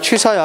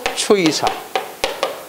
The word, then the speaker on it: 취사: 이거 발음을 할 때 어떻게 해야 돼? 그냥 취사야 해. 근데 이것을 자꾸 추이사. 이를 갖다가 발음을 하는 경향이 있더라니까. 알겠어요? 추이사.